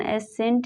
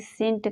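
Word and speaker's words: scent: For example सेंट में एस के बाद सी है तो इसका उच्चारण एसेंट नहीं सेंट करते हैं।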